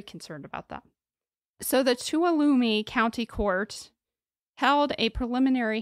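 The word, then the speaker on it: Tuolumne: right to alumi but it's spelled so different okay it's spelled t-u-o-l-u-m-n-e but I did look up how to pronounce it and I believe it was tuolumi I think you did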